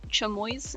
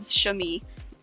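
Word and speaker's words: chamois: and the name of the animal is not chamoo it is shami I had a feeling I was pronouncing that name wrong um so I looked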